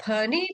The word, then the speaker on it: फणि: फिर है फनी फनर्पित फनी पी एच का साउंड आना चाहिए।